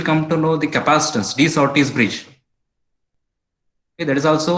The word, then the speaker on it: De Sauty: Okay, so next we'll come to know the capacitance, de Sauty's bridge.